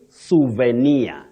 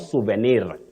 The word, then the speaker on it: souvenir: In English you say souvenir. Not souvenir or souvenir.